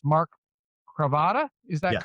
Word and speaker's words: Mark Cravata: It's Mark Cravata.